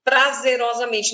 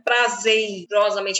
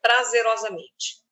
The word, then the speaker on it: prazerosamente: mas é essa aqui nós sabemos bem prazerosamente não é prazeirosamente é prazerosamente observações Este grupo de